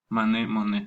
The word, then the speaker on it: Monet: Monet se escribe. Monet sería la pronunciación.